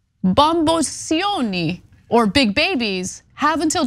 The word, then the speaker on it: bamboccioni: not even sure, but I think it's actually pronounced Bamboccioni, okay? When the lawsuit hits your face like a pizza pie. Okay. Oh yeah, the 2 C's does the ch sound. Ch, yeah. One C is the s.